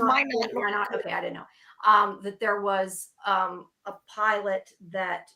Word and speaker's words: Minot: It's pronounced Minot.